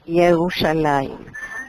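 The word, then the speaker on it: ירושלים: hebreo w sandaal jerusal entonces en hebreo se pronuncia una m una m y no una n yerushalaim Y entonces cómo se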